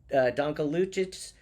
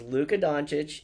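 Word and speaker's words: Luka Dončić: But Don Luch and Don Luca. Who brought them down? Who brought them down? But you don't even appreciate him enough to pronounce his name correctly, right? Luca, who brought them down was Luca Donuch and the Dallas Mavericks.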